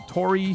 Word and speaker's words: Toree: My gaming recommendation is the Tori series of games. It's spelled Toree.